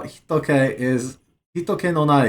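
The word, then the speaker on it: 人気のない: Ninki means popular, very common word, except when randomly, once in a blue moon, you encounter ninki no nai, and it's pronounced totally different.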